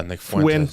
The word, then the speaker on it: Fuentes: And uh he's going after Nick Fuentes. Is that how you say his name? Yeah. Nick Fuentes.